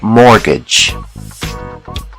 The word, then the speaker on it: mortgage: The T is silent. mortgage.